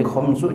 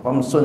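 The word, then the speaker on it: خمسُ: wamsu au ya sittu jadi khamsu jangan pakai tanwin khamsun jangan khams W khamsu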